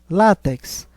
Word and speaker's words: látex: ser acentuada está incorreto látex é uma paroxítona terminada em X por isso que deverá ser acentuada Giló é uma oxítona